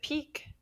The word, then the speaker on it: Piqué: Question number 2, Piqué, in English we pronounce it peak, or we might spell it P-E-A-K, of mountains, Mount Elbrus is the highest mountain in Europe.